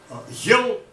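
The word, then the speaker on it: ель: It just indicates that the preceding letter is pronounced soft. So not yell. Yell, that means kana katata.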